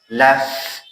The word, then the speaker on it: laugh: But here, laugh means khandidan. GH gives the fa sound, like laugh, this sound. It is not silent, okay?